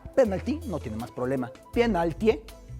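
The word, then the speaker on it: пенальти: Penaltie, lo pronuncian así, penaltie, y así es como se escribe en cirílico.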